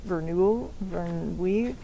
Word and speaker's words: Verneuil: This was kind of a reunion picture for the director, Henri Verneuil. I apologize. I don't know if I'm butchering that. It's Verneuil.